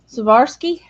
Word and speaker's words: Swarovski: Swarovski.